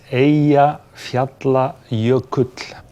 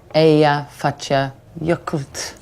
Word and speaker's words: Eyjafjallajökull: How do you pronounce its name? It's Eyjafjallajökull. Eyjafjallajökull.